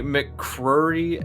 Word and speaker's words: McCrory: people get it wrong it's supposed to be mccrory you're supposed to say the second c but you could just